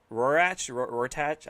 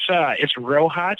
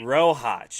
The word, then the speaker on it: Rohach: Is it Rortach? I can't remember how to pronounce it. It's Rohach. Rohach. And then, yeah. And then definitely, yeah, you'll see a lot of announcers like to go with Roick or something like that.